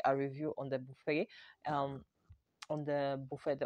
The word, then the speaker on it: Buffet: also purchased uh the ordinary buffet i was pronouncing it as buffett in the previous video because i didn't actually